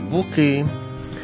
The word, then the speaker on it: Буки: шановні глядачі ландшафтний парк Буки Ну а можливо треба наголос по-іншому ставити БукИ ну всі звикли казати БУки він створений місцевим підприємцем